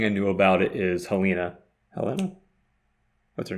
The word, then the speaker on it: Helen: which way it's pronounced it's Helen it's just Helen oh it's just Helen